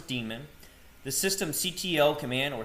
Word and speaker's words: daemon: the system D demon this is pronounced as demon the system CTL command